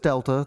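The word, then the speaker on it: Δ: triangle I'm looking right at it yes it's pronounced Delta that's that's what it is I know how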